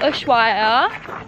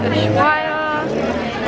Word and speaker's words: Ushuaia: Yeah, Ushuaia. Ushuaia.